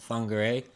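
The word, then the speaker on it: Whangārei: It's uh spelled with a wh but wh there is pronounced with an f sound. So it's called fungere.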